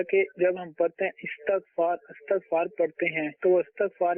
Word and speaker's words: استغفار: یہ صحیح تلفظ ہے استغفار، ٹھیک ہے، الف کے نیچے زیر ہے، استغفار، ٹھیک ہے، لیکن